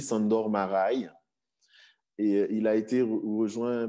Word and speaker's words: Sándor Márai: Alors, la prononciation n'est assurément pas bonne, Sándor Márai. Je ne sais pas, on m'a dit qu'il fallait dire comme ça. En tout cas, moi, je dis Sándor Márai.